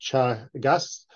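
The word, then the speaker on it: Teagasc: of an organization called Chagas is an Irish word it's pronounced Chagas and uh we are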